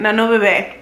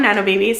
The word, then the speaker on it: Nano Bebe: I'm gonna say it's super Mexican. Nano Bebe. Obviously it's Bebe because it has the accent on the A and on the A. I know people call them Nano Babies.